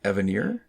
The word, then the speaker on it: Evanier: His name is Mark Evanier. Yeah. It looks like it should be pronounced Evanier, but it's not. He actually is very clear that it's not French, and it's...